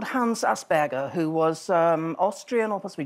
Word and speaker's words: Asperger: It's named after a guy called Hans Asperger, who was Austrian or possibly German, I can't remember. But the Germans would pronounce it Asperger. Asperger. An awful lot of people say Asperger.